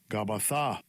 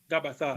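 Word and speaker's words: Γαββαθᾶ: This is the Greek, and notice the pronunciation. Strong's G 1042, Gabbatha. Gabbatha.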